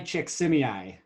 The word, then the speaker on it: Csikszentmihalyi: Mihai Csikszentmihalyi.